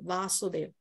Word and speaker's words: Vasudeva: to understand in Sanskrit when there is a line on top of an alphabet then you pronounce it as a double so this is vasudev